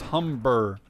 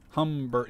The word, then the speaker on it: Humber: my good friend Davidson how to pronounce hum Humber or Hummer armored car and apparently it says Humber Humber like h h m b r that's the correct pronunciation so that's kind of the the one